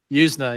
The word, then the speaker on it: Yuzna: Yuzna, right? Yuzna, Yeah, yeah.